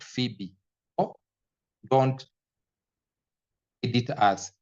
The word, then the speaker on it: Phoebe: Don't want people to tell you that word is not read as Foebe. It's written as Phoebe. You call it, this is how you say it. You say it Phoebe.